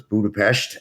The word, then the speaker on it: Budapest: Uh, and so we've got about uh, 12 US folks and the remainder of our team is in Budapestt. Uh, the S is pronounced sh so it's Budapestt and we have about 120 folks in Hungary.